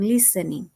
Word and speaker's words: listening: Pero ¿qué pasa con listening? Como aquí pueden ver. Listening, el acento va en la primer sílaba.